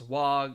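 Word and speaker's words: は: Wa. This looks like a ha, but it's pronounced wa.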